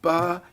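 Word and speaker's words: barre: about panel and um it's called bar yoga and it's spelled b a r r e exactly so we don't we're not a yoga studio that serves drinks in other words it's a bar is in a ballet bar don't you serve drinks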